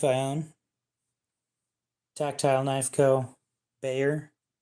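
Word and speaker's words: Bexar: Bayer. It is spelled B-E-X-A-R.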